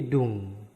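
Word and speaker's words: 둥: Diget D U berarti du. Ada ing di bawah berarti dung.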